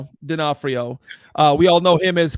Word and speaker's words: D'Onofrio: In other Marvel news, Vincent D'Onofrio, if I pronounced that properly, No, which I didn't. D'Onofrio.